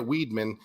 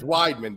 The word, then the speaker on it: Weidman: honest with you because if you look at Weedman um it's Weidman but it's why weed man come on so if you look at Weidman this is a guy